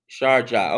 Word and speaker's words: Sharjah: Pant's name is pronounced Punt. Punt. Okay, punt. Punt. Got it. Punt. It's Sharjah. Sharjah.